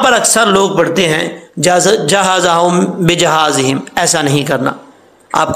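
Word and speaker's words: جهازهم: تو یہ غلط ہے۔ جیم کو ہا سے ملائیں گے، پھر ہا کے اوپر شد ہے، وہ شد کے اوپر جو زبر ہے وہ بھی پڑھا جائے گا۔ کیسے؟ ہجے کر کے بتا دیتا ہوں آپ کو میں۔ جیم ہا زبر جا، ہا زبر ہا جا، زا زبر زا جہازا، ہا میم پیش ہم جہازہم، ولما جہازہم، جہازہم، جہازہم نہیں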